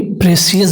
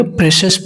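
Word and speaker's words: precious: द प्रेशस, इसे बहुत कोई प्रेशियस बोलता है दोस्तों, तो इसको प्रेशियस ना बोल के प्रेशस बोले, क्योंकि CIOUS का जो प्रोनाउंसिएशन होता है वो आता है शश।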